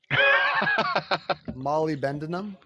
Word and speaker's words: molybdenum: But I've never pronounced it correctly until just right now. I think I was inserting like 2 or 3 extra syllables in there. Molybdenum. Okay, yeah, we got Molybdenum.